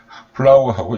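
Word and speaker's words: flour: 플라워 이렇게 되잖아요. 우리 꽃으로 말하는 FLOWER하고 발음이 똑같습니다. 이거 시험 문제에 많이 나왔죠. 플라워하고 이 플라워하고 발음이 똑같습니다.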